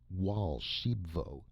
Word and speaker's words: Archambaud: my golden goose and raoul archambauld pronounced wal shebo interrupted excitedly i showed